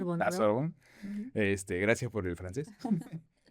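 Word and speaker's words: Sorbonne: 3, que es este Panón y Sorbón, así se pronuncia. Sorbón, este, gracias por el francés.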